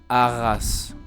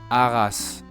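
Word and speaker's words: Arras: The e is silent as well. Last example, aras. One of my favorite towns in France personally in the north of Paris. Let me say it again. Aras.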